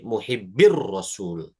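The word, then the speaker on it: محب الرسول: Dibacanya muhibbi yani rasul gitu. Jadi kalau pertemuan 2 sukun ya huruf pertama yang sukunnya merupakan huruf mad, maka tidak dibaca huruf madnya. Menjadi muhibbir rasul.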